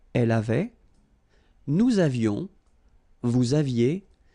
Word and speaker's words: avions: Nous avions, little liaison, final S not pronounced. Nous avions.